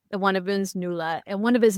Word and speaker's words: Nuala: So, we've got three sisters, Maura, Deirdre, which of course is me, and Nuala. Am I pronouncing that right? Nuala. Nuala. Nuala.